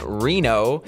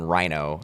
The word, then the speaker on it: Rienow: the podcast Lany Reno which I've learned that's how her last name is pronounced uh let's just start off by saying how many times have you gotten Rhino as your last name instead of Reno plenty of times basically